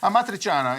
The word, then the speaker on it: Amatriciana: So amatriciana, I never say it right, Giorgio. Amatriciana. Amatriciana is Amatriciana because it's coming from a town called Matrice.